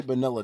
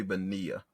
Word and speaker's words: Bonilla: Also, I think it's pronounced Bobby Bonilla. Oh, okay. I think I've heard that. It's not vanilla, dude.